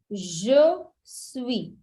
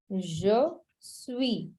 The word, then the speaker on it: je suis: So, first, I am is je suis. Just we. Je suis.